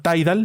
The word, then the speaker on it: Tidal: a votar hay una aplicación que se llama tide al se escribe tidal así como suena t y latina